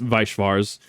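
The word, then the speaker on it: Weiß Schwarz: People don't pronounce it the German way. It is Weiss Schwarz, white black.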